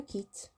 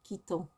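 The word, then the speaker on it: quittent: You pronounce it in the same way as the je, tu, il, elle form.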